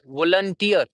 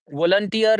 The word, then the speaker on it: volunteer: In British pronunciation, the last sound, if it ends with the r, like it's the spelling here are like VOLUNTEER. When we say volunteer, it ends with the r sound.